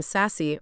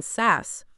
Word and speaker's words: Sass: someone's tamed Magda sass he always deliberately pronounced their surname sassy rather than sass Artemis remembered I wouldn't